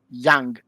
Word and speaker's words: Jung: This is what is called ego moment in Young or Jungian or Jung design, depends on how you want to pronounce it, his surname.